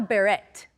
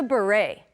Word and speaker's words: beret: pronunciation it's not a Barrett okay it's not a bit it the T is silent it's a beret remember we have many